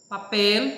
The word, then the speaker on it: papel: Papel, a sílaba forte aí é pel.